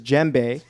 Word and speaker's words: djembe: You can often find him running across NYC with his djembe. I pronounced that right.